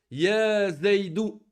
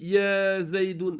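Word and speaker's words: يا زيدُ: Ya zaydou. On dit pas ici ya zaydoun. Là, khata. Ya zaydoun khata. On dit ya zaydou.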